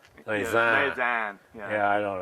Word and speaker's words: Lausanne: Without the N is nasal. Lausanne.